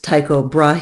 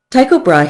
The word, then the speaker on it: Tycho Brahe: now Americans pronounce this Tycho Brahe he it is actually a Danish name and if you speak